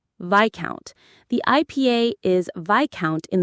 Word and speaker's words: viscount: Number 12 is vicount. V I s o u n t. Viccount. The IPA is vicount in the UK or viscount in the US. The s before the c is silent.